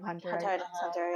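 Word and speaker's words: Hunter × Hunter: She was married to the writer of Hunter. Hunter. I've been told still recently, waiting for that. I've been told recently that it's just pronounced Hunter Hunter. Yeah. I'm still gonna say Hunter x Hunter.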